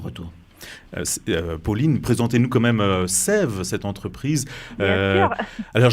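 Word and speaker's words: SAEVE: Pauline, présentez-nous quand même Sève, cette entreprise.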